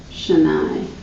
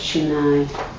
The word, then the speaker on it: Shani: you the pronunciation, it's Shani. The Sanskrit way to say it is this S makes that SH sound. So it's Shani.